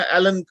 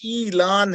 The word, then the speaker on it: Elon: नाम जो है ना एलन कहते हैं, नहीं ये ईलान है, जैसे अरबी का लफ्ज ऐलान है। तो ये बिल्कुल अरबी के लफ्ज ऐलान के ऊपर इसका ये उस तरह की प्रोनाउंसिएशन है।